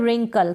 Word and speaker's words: रिंकल: Next है रिंकल।